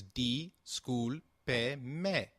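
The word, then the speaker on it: disculpe: at this pronunciation again the school payment is pronounced as d school pay may with the sound of pay like in pet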